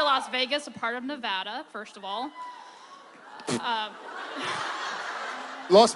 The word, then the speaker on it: Nevada: Reno no it's pronounced Nevada not in Texas it's not I don't know how you West coasters pronounce things but down where the salt of the earth NADA Nevada it's pronounced Nevada it's Neer thanks Diane